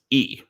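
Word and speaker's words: 이: So in Korean pronunciation, it's E. Because, since I usually say E.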